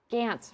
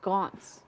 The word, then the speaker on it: Gaunt: It's adorable watching her trying to subtly correct B prime on Gants versus Gaunts.